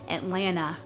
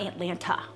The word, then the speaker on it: Atlanta: I grew up in a suburb of Atlanta, and that is how you say it, Atlanta, and not Atlanta.